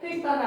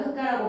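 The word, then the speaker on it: 흙과: 그럼 얘들아 흑가는 왜 흘거라고 발음하지 않는 거야? 리을기역 뒤에 기억이 왔는데 흑가는 왜 흘가가 아니라 흑가라고 발음합니까?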